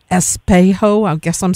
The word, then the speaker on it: Espejo: and just what the songs are about, like Espejo. I guess I'm saying that incorrectly, but it's mirror. Pretty good. Espejo.